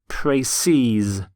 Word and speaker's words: précis: The plural of précis is in fact spelt exactly the same, but it's pronounced précise.